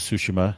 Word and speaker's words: Tsushima: enjoying Ghost of Tsushima, or Ghost of Tsushima, so what it sounds like when they say it in the actual game. I want to pronounce it correctly.